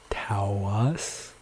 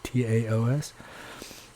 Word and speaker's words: Taos: She's corrected me several times, by the way, because I guess a lot of people say Taos, since there's an A-O-S, right? T-A-O-S. But the correct pronunciation is just a single syllable sound.